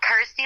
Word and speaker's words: Kirsty: obviously it helps that it's you know rhymes with my name and helps people pronounce my name correctly so I'm like cool Kirsty like thirsty got ity like thirsty